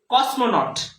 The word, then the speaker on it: cosmonaut: উচ্চারণটা কি, কসমোনট।